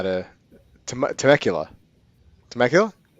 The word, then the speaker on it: Temecula: tim akula no i i've never oh it's temecula um it's not far from me okay now i live in riverside county that's why yeah temecula okay i'm pretty bad with pronunciations man i